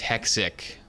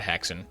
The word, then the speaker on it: Hexic: I got the name wrong, it's Hexic. Okay, not Hexen.